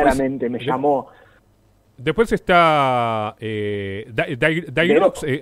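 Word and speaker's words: Daireaux: Después está Dairox, o Dairox, ¿cómo es que se pronuncia? Dero.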